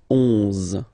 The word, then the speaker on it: onze: 11, 11, okay, so O plus N give you the sound on, onze, onze, okay, final E doesn't exist phonetically, onze, okay, douze, douze,